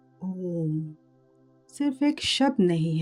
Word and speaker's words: ओम: कहते हैं यह तीन ध्वनियों से बना है। अ, उ और म।